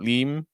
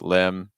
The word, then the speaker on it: limb: mindful of that so it's not Lim it's limb compare Lim limb Lim limb want make sure you're saying limb limb okay so the other